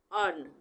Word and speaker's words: earn: का उच्चारण अ होगा जैसे ई ए आर एन अर्न यहां पे ई ए